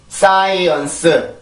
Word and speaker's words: science: 한국어로는 몇 음절인가요? science science. 사음절이죠, 사음절. 그죠? 근데 영어로 보면 이음절 소리예요, 이음절.